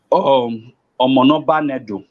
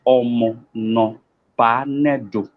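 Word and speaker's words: Omonoba n'Edo: Some people say, Omonoba Nedo. No, that's not how you pronounce it rightly. It is pronounced as Omonoba Nedo.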